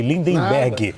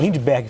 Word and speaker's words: Lindbergh: Peço perdão pela pronúncia errada, viu, deputado? Falei Lindenberg. Nada. Lindbergh Farias.